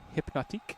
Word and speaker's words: Hypnotiq: You got to roll the R. It's Hypnotique.